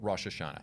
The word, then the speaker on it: Rosh Hashanah: will know is rosh hashanah okay so or rosh hashanah is usually how it's said now this is